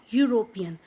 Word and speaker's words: European: So here what we are pronouncing, although it starts with E, we are not using an. We are looking at what? We are looking at the pronunciation. It's not European. It is European. European. So it starts with U.